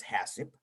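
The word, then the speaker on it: HACCP: what that mean is is pronounced as hassip and what that means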